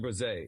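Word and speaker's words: Bresee: no it's pretty uh it's like bruh like Brazil oh so yes yes so Brian breze is how you really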